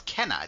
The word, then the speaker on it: Kenna: Wick uh um uh actually it's Kenna because they said it that's just how she pronounces her own name in the in the game yeah yeah 100 um